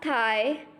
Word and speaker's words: tai: Will be pronounced as thigh, thigh.